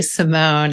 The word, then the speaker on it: Simon: And I guess since my last name is spelled like Simon, but I say Simone, it kind of goes with the whole.